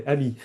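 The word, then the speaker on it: AMI: Which by the way is pronounced the French way, EMI. EMI, okay.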